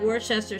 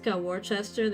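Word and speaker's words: Worcester: There's a town in Massachusetts, Warchester. They pronounce their wooa. Oh, I don't know what it's I call it Warchester sauce and I don't care.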